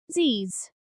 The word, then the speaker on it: Z's: The letter zed is pronounced z's.